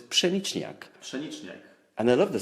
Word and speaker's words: pszeniczniak: my favorite beer, which is not a very easy word to pronounce for people, which is pszeniczniak.